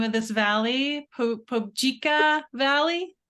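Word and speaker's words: Phobjikha: is in the I'm not sure how to pronounce it, Charlotte. What the name of this valley? Pobjika Valley? Pobjika, yeah, it's a very sacred valley.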